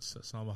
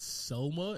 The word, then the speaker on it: Salma: My favorite thing about Salma Hayek's character, and I always have said her name wrong. I'm looking at it right now. It's not Selma. It's always Salma, and I've said that wrong my entire life, ever since